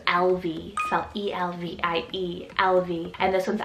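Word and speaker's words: Elvie: then for another cutesy one it's the name lv cell e-l-v-i-e-l-v and this one's irish rooted meaning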